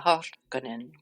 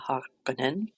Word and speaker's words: Harkonnen: to give you recordings of how I would pronounce a certain family names in the Dune series. So we have Valja Harkonnen, we have Tuula Harkonnen, and we have Harro Harkonnen.